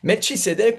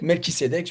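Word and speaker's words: Melchisédech: Et lui, il est selon l'ordre de Melisédec. Et Melchisédec, Melkisédec, vous prononcez comme vous voulez.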